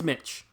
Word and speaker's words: Miche: else pronounced his name it's mitch you pronounce it as mitch i don't know why